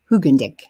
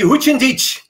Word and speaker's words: Hoogendijk: And so we are used to having all the pronunciations of the name Hoogendijk. We need, I think, Dutch tongue and teeth for that.